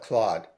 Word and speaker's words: Claude: stop you here because Americans call it Claude but we call it Cloe we use a French pronunciation well and I have